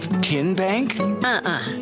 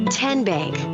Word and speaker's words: TN Bank: you enroll wildcats role how do you say the name tn bank nope tin bank so what is it ten bank ten as in tennessee right here where all